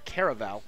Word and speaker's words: Caravelle: Vela Oscar Kirk Kara Oscar Caravelle actually is how it's pronounced kara Val will be trying to